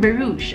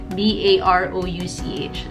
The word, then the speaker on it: Barouch: Dan Barouch, I actually researched how to pronounce his last name. It spells B-A-R-O-U-C-H. Dr. Dan Barouch. That's like Barouch.